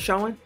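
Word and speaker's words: Sochan: but i really love jeremy showing they pronounce showing so ann sohan out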